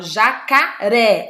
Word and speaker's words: jacaré: ó já car é eu não falo o cara e não sabe jacare eu falo jacaré olha a sílaba forte